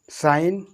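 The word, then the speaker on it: sign: इसको रैन, साइन, डिजाइन, डिजाइन माने पता होना चाहिए, डिजाइन माने बनावट होता है। तो देखो यहाँ पर जी जो हो रहा है, जी कैसे हो रहा है, बिल्कुल साइलेंट।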